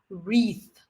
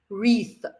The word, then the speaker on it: wreath: it is pronounced as wreath wreath so this is one of these words where w at the beginning of the word is silent yeah when you when